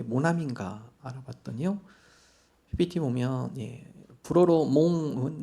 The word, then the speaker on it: 모나미: 그래서 이름을 왜 모나미인가 알아봤더니요. PPT 보면 불어로 몽은 나이란 뜻이고요. 아미 친구란 뜻입니다. 그래서 원래 몽아미인데 발음상 힘드니까 그냥 모나미에서 모나미 볼펜이 탄생이 되었다고 합니다.